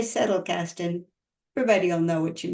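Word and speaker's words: Zettelkasten: what it means or I broke it up into three words words settle Casten yes is z not an S but if you say settle Casten everybody will know what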